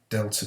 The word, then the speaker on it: delta: So the change in temperature, delta T, is equal to 70 degrees C. This symbol here is a Greek symbol, and it's pronounced delta, okay, delta, and all delta means is change, okay.